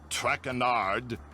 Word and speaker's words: Traquenard: As for my name, not Traquenard. It is Traquenard. Traquenard.